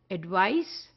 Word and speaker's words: advice: is s e so with the spelling the pronunciation also changes and therefore it changes from advice to advise because in one the sound is of c and the